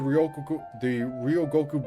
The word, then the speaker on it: Ryogoku: But then the Ryogoku Bridge sprang up after the Great Fire of Meireki. Right? That's how it's pronounced.